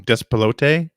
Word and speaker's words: Despelote: Despelote, I think is how it's said.